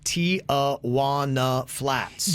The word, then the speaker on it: Tijuana Flats: for our flats friday they actually have their pronunciation that you can see when you look it up on google and phonetically it is tia wanna flats you're not wrong we